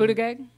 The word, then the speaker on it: Buttigieg: Buttigieg? Yeah, that's how you pronounce it.